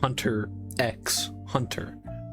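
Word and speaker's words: Hunter × Hunter: The title of the manga is Hunter X Hunter with the X actually being a symbol and isn't actually pronounced.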